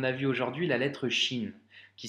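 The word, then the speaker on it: شين: vu aujourd'hui la lettre chine qui s'écrit comme ça comme le cinéma avec 3 points et ça se prononce chat tu vois le sont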